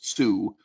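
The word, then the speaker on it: Tsū: if you wonder why I'm mispronouncing 2 as Sue it's the actual title of the game not worth explaining so my pronunciation of the numeral two will sound funny sometimes okay um so there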